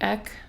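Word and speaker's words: Aïk: school, her name was, it's spelled like A-I-K. There's like an accent mark on the I, but I think it's supposed to sound like Ek.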